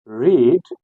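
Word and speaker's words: read: same रहती है लेकिन प्रोनाउंस चेंज होता हो जाता है रीड रेड रेड बन जाता है लेकिन हमने रीड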